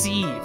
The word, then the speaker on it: sieve: It's pronounced sieve.